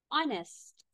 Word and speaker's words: honest: Okay, let's start vocabulary with else, elves, elves, honest, honest. The H, letter H is a silent letter.